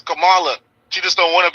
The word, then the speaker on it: Kamala: you say the word so if you add a a some people going to say Kamala they're not going to say camel cam cam and then you add a a Camala n that's that's pronunciate is Kamala she just don't want